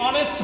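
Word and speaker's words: honest: अभी आपको और बताएंगे हां ये ही इज ऑनेस्ट मैन ए एंड द क्या इसका प्रयोग आएगा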